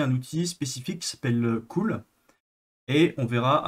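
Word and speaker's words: CeWL: Donc en fait, Cool, donc c'est ceci, ça se prononce Cool, c'est un générateur de word list customisé.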